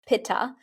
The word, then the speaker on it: Pitta: Pitta, which we pronounce in the West, Pitta.